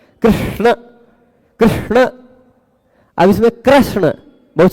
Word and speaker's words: कृष्ण: लोक में ऐसा होता ऋ बोलना है लेकिन र बोल जाते हैं कृष्ण कृष्ण अब इसमें कृष्ण